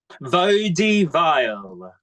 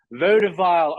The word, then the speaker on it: Vaudeville: We only have one more left from your house of, how do I pronounce it again? Vaudeville. Vaudeville.